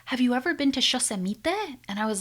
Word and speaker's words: Yosemite: He said Yosemite instead of Yosemite, okay? So he changed the stress of the word, he did not use